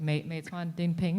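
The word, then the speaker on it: Meituan-Dianping: I think I'm going to butcher the pronunciation since I'm not Chinese, but like Meituan Dingping, is that right?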